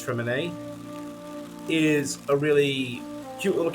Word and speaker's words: Freminet: the magical duo, and I think Fremine, I think that's how it's pronounced. I've been saying Freminette, but I'm pretty sure it's Fremine, is a really cute little character.